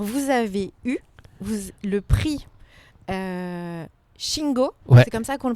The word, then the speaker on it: Shingo: Parce qu'alors vous avez eu le prix Shingo, c'est comme ça qu'on le prononce.